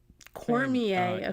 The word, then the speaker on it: Cormier: Cormier.